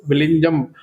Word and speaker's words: Vizhinjam: Now the point here is we need to focus on this Vizhinjam International Seaport. Actually, see, the actual pronunciation of ZH in this particular word will be like La. You should pronounce ZH as La.